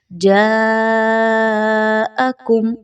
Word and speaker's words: جاءکم: Balance میں رکھنا ہے۔ جاءکم، یہاں پر مد آ رہی ہے، مد کو کھینچ کے پڑھیے، مقدار کو کم نہیں رکھنا۔ بہت سے لوگ اس جگہ پر پوچھتے ہیں کہ جوڑ کیسے نکالیں، ہجے کیسے کریں، تو آپ نے یہاں پر پڑھنا ہے جیم الف مد زبر جا، حمزہ زبر آ، جاءکم واضح ہو گیا۔ آگے چلیے تو